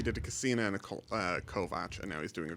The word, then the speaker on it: Kovacs: Then he's doing just a Kovacs, which is actually pronounced Kovac.